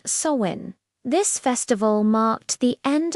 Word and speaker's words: Samhain: The holiday's true origins go way back, long before these modern associations, to an ancient Celtic festival known as Samhain, pronounced Samhain.